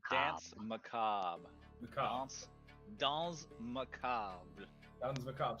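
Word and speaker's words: Danse Macabre: How do you Oh, pronounce Dance macabre? Dance macabre.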